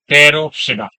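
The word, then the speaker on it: Pteridophyta: सबसे बड़ा ग्रुप है रोफ सिडा पी साइलेंट है रोडा या फिर एक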